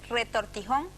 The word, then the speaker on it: retortijón: palabra nos preguntan si se pronuncia o se dice retortijón o retorcijón Pues el español no perdón para esos dolores breves y agudos ambos términos son válidos todo depende del uso regional Yo también digo retorcido